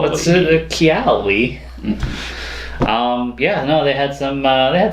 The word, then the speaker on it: Keyali: It's kind of like Kelly, though. Yeah. It's like if you didn't know how to pronounce Kelly's name correctly. Yeah, it's just Keyali. What's it? Keyali.